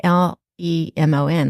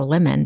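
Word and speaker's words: limen: say it James lemon it sounds like it's spelled like l e m o n like a lemon but it's lemon lemon which means threshold think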